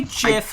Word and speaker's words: GIF: I say GIF like the peanut butter.